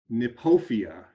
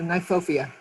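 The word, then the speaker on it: Kniphofia: plant and let's see if i get this pronunciation correct nepofia is that right cheryl you have to take your sorry um usually uh nyphofia nyphopia okay yeah and and there is some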